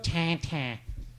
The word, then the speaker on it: Tintin: You love Tintin. That's how you say it in French, right? Yes. Tintin. Yes, that's right.